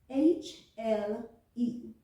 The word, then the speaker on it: hle: Did you hear that? Hle, hle, hle, hle.